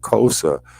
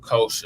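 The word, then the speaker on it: Xhosa: Sunset and uh she was of zulu and kosa uh back that's the one I was thinking of kosa yeah had a yeah the kosa yeah and that there is spelled x h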